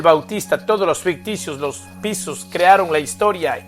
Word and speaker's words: Piso: toda la creación de la familia calpurnio piso pronunciado piso que eran aristócratas romanos el nuevo testamento y